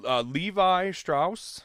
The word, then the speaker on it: Levi Strauss: that great so yeah that's true so yeah Levi Strauss is how you pronounce it L VI is the ticker symbol